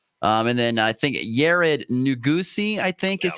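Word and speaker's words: Nuguse: And then I think Yared Nugusi, is how you say his last name.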